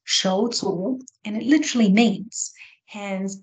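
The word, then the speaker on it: 手足: So, and when we look at the Chinese word for siblings, the Chinese word is pronounced shouzu, and it literally means hands and feet.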